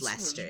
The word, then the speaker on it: Leicester: it's Lester yes you it's pronounced Lester pronounced Lester and it's in leerer